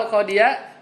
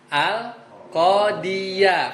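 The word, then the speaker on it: القاضيَ: Jadi kalau mansub bacanya apa? Al-Qadiyah. Karena dari kasroh terus mangap fathah mudah, dan kebetulan dia tandanya fathah ya.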